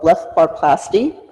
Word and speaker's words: blepharoplasty: It's called Blepharoplasty, and I'll spell it for you.